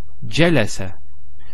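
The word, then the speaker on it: جلس: So jealous.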